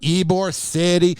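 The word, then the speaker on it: Ybor City: thing with eore City here's the problem with ebore City you got to say it like that you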